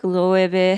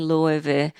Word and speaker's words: Loewe: And the pronunciation is funny because Loewe and Loewe are technically the same brand, but they kind of feel like two different personalities.